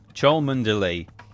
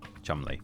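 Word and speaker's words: Cholmondeley: Choland delay. Choland. Chumly.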